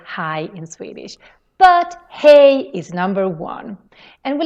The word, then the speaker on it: hej: Hej. Hey. Hej is the Swedish way of saying hi. It's quite similar to English, just that we spell